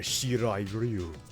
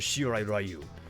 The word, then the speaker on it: Shirai Ryu: You dare desecrate the Shirai Ryu? That is how you pronounce my clan's name? Whoever said the Shir Rayu shall now be persecuted by my fellow henchmen.